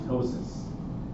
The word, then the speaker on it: ptosis: Again, the P is silent just like in ptosis.